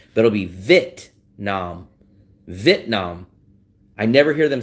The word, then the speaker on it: Vietnam: I forgot what their channel is, and they'll say Vietnam, Vietnam. They don't pronounce the E. The only thing that I'm missing is the E.